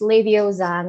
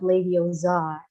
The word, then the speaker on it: Leviosa: pronounce incorrectly for example it's leviosa not ladies are this is pretty quite